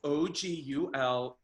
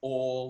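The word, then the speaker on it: Oğul: So it's Oguler. The G is a unique letter in our alphabet. That's a soft G. So everyone calls me Ogul, but it's Ol, like OL.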